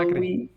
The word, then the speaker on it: Acre: Maybe I'm probably mispronouncing, sorry. No, it's correct, so Acre.